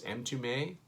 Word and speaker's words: Mtume: Number 175, I'm only guessing how to pronounce this. I've seen it before. I think it's Mtume.